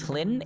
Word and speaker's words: Hlyn: Her name is Hlyn, Hlin. Flynn. I know, more weird dwarven names, but that's how they Hlyn. spell it. Hlyn. Yeah, I'll Fine. start with an H. So like Lynn, but with an H.